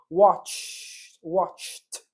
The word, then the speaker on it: watched: Watched. Interrompemos o som da consoante, faz aquele t.